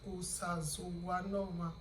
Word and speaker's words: Osazuwanoma: That's why you just go ahead and use the way you just pronounce the English letter O as Osazuwanoma. Again, the syllables will come in there, because you can slash your Osa, you can slash Zu, you can slash Wa, you can slash the No, you can slash the Ma.